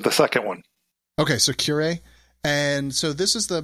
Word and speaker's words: curiae: How do you pronounce that? Yeah, you said the second one. Okay, so curiae.